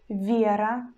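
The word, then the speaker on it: вера: and vowel sound air but in the word like viera vira vira we pronounce consonant sound in the soft way we pronounce and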